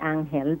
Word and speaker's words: Ángel: Ãngel del Brasil, or well, in Spanish we say Ángel, but Angel is everybody Okay. will Okay. understand that.